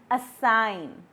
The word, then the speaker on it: assign: The first word is foreign, sign, design, and assign. In all these 4 words, G is silent.